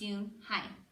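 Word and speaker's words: Unhei: "Yeah, it's pronounced Yun-hai, and it means grace."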